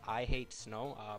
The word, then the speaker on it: iH8sn0w: do is visit this website right here it's pronounced i hate snow as you can see it's spelled with a